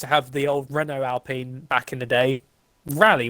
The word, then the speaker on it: Alpine: Do you say Alpine or Alpine? It's Alpine, they've said. Ah, okay. Well, Alpine, it is Renault. Renault is still prominently there. Alpine used to have the old Renault Alpine back in the day.